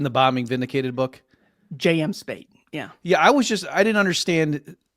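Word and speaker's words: Spaight: the quote you read there from, is it Spate? Is that how you say his name? In the Bombing Vindicated book? J.M. Spate, yeah.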